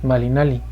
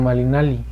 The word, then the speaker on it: malinalli: a sonar como l la doble l es una el sonido de la l pero extendido por ejemplo el malinalli lleva a la terminación lee pero no es malinalli sino malinalli lleva un saltito más dentro del aire la m va a